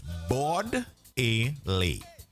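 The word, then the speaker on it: Bordelais: from saint lucia so the pronunciation of the jail is bored a lay all right bodily so it's bodily um thank you for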